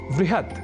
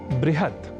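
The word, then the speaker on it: बृहत्: दिला रहे हैं कि कुछ ऐसे भी शब्द हैं जहां व और ब इन दोनों ही अक्षरों के बीच अभेद है। इस स्वीकृति के साथ कई शब्द हमें संस्कृत साहित्य में प्राप्त होते हैं। जैसे आपको याद ही होगा वृहस्पतिह या बृहस्पतिह वृहत या बृहत वह या बह और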